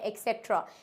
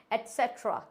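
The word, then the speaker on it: et cetera: लिखा होता है ETC, जिसको हम बोलते हैं एक्सेट्रा। या फिर कुछ बच्चों को पता नहीं होता है तो वो ETC बोलना भी प्रेफर करते हैं। तो हम इसको बेस्ट प्रोनाउंसिएशन कैसे कर सकते हैं? एटसेट्रा। क्या होता है ये? एटसेट्रा, नॉट एक्सेट्रा। इट्स एटसेट्रा।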